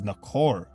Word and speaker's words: Nahor: Essentially, Nagar could easily be translated as Nakar, and this is very close to the proper pronunciation of Nahor, which is Nakor.